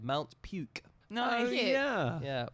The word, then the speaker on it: Puke: territory of Wallace and Futuna is called Mount puke no yeah yeah p u k e but it's pronounced PUK Wallace and funa is one of